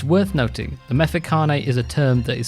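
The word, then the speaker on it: Mfecane: And the third thing is I've mispronounced a field guide. It's Mefekane, and it is made by NHP Shaka.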